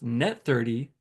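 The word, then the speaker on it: n/30: give you 2% discount in 30 is pronounced net 30 if you pay between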